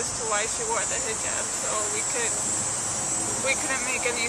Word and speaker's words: hijab: The play seemed to be a lot about that you wear the hijab. Am I pronouncing it right?